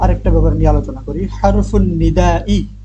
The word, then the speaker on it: حرف النداء: হারফুন নিদা উচ্চারণটা আগে শিখতে হবে ভালোভাবে।